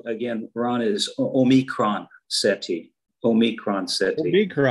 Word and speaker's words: Omicron: Omicron, that's how it's pronounced. Mm-hmm. That's how I say it. You know, it's a Greek letter.